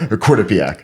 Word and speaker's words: Quinnipiac: Quinnipiac.